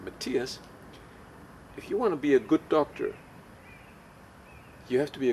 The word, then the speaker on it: Matthias: hip, he said, "Matthias," this is how I pronounce my name, "Matthias, if you want to be a good doctor, you have to be a good researcher."